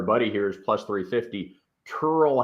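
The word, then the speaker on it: Tyrrell: turtle hatton and that really is how he pronounces his first name also plus 350.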